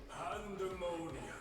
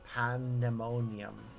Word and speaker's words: Pandaemonium: Pandaemonium. That's why they're spelling it like that. Pandaemonium doesn't need to be spelled with the A-E, but they're making it clear that it's meant to be daemon. Like demon.